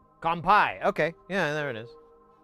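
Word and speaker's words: 乾杯: very beginning syllable kungpai I just asked the internet how do you say cheers in Japanese. When drinking. When drinking. There we go. Compai.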